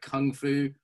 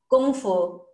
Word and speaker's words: kung fu: Chinese romanization it's the same as Kung like Kung Fu chiung CH Gung fu kung fu should be pronounced in in Mandarin Gung Fu okay I'm